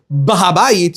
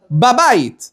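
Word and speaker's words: בבית: Or the suitcase is in the house. You don't say bahabayit, you go babayit, right? Right? In Persian, it's a funny babay. Babayit. You say babayit.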